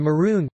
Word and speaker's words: maroon: instead of a day and maroon pronounced with own as opposed to oon you topic variation topic